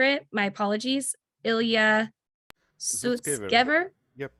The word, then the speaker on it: Sutskever: Sutskever?